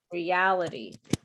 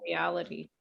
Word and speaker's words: reality: this is a mistake it's it's reality the stress is here reality it's that's not reality yeah reality okay jarson